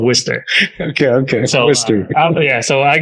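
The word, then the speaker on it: Worcester: Worchester s yeah so we don't pronounce R so it's called Worster okay okay yeah so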